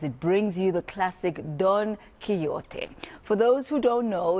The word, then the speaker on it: Don Quixote: pronunciation as well of Don Quixote, right? Yes, it's Don Quixote.